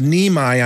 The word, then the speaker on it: Niemi: Oh, okay, his name is Niemi, I'm being told. That's the correct pronunciation of his last name.